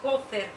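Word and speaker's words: כֹּפֶר: las mismas letras de palabra a capar que se pronuncia copper significa el precio de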